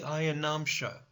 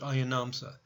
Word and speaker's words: ayanamsha: zodiac is called the ayanamsha sometimes spelled and pronounced ayanamsa so whether you pronounce it ayanamsha or ayanamsa that's the difference between